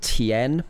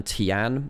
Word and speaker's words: Tian: This guy's name, the jungler's name, you pronounce it Tien rather than Tian. If you see an A, I-A-N, normally it's N rather than An. It's a slight kind of pronunciation difference.